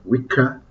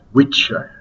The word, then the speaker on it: Wicca: And it's pronounced Wicca, not Witcher.